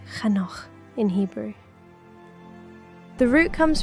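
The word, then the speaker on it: חנוך: Pronounced Chanoch in Hebrew.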